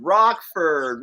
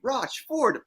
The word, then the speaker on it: Rochford: Yes, it's amazing because so many people are like Rochford, Rockford. I'm like, those letters don't make that sound. But you, like phonetically, Rochford, boom, you nailed Yeah.